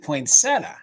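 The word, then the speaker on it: poinsettia: bid end yes yeah is it poeta or poia it's po POA we always said poinsetta you just you just ignore the eye that's there right sure the eye is silent though silent yeah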